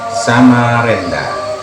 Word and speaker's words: Samarinda: atau sekitar Dekade 1980-an warga masih menyebut Samarinda dengan lafal sama Renda pengucapan huruf s seperti kata beta walaupun dalam bahasa penulisannya